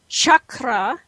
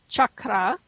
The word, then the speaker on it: chakra: it is not spell it is not spelled or pronounced Shakra there's no such word in the uh Sanskrit language as chakra it doesn't exist these are chakra chakra that's how you pronounce